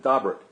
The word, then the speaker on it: Daubert: the family pronounces it dobrik so I'm going to pronounce it daubert I've heard it pronounced many of the ways and that's certainly not the French pronunciation but we're going um